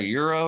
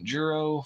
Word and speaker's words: gyro: Gyro. It's not a euro or whatever. Jurro. the hell. It is a jurro.